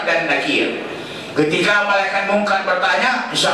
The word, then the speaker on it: Nakir: Jangan dibaca Munkar dan Nakir. Jangan begitu. Itu bacanya tidak benar. Munkar dan Nakir.